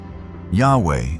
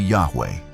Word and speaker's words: Yahweh: In his research, he was the one who proposed the hypothesis that the ancient sacred name YHWH was likely pronounced close to Yahweh rather than Jehovah.